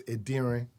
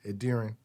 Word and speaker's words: Edirin: from where I'm from, it's Edirin. That's how it's actually said. Edirin. Yeah, that's how it's said. It's not easy. Even like I said, even Nigerians don't. You kind of emphasize an N at the end.